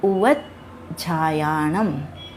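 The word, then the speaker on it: उवज्झायाणं: यहाँ पर देखिए जय और झय दोनों मिल रहे हैं, तो हमें क्या करना होगा, जय का उच्चारण पहले वाले शब्द उवज के साथ ले लेंगे और झायाणम को हम लोग अलग से बोलेंगे। यह प्राकृत का एक नियम होता है जिसे हमें फॉलो करना चाहिए और यही शुद्ध उच्चारण माना गया है।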